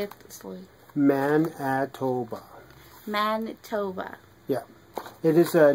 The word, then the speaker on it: Manitoba: Manitoba.